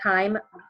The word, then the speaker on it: chyme: y MV p-- I'm not chime like music but time is how you pronounce that and it's called chyme through your entire stomach